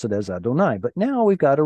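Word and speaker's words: יהוה: us pronounce it as Adonai. But now we've got a reduced vowel. Sometimes we'll get a cholam, but not here. And then a chirik. That reminds us to read it as Elohim.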